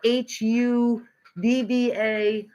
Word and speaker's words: Hubba Bubba: It's called HUBBA BUBBA. We Americans pronounce that American bubble gum hubba bubba.